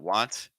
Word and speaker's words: want: that when you're making that want sound that ah really trying to keep things open ah W want ah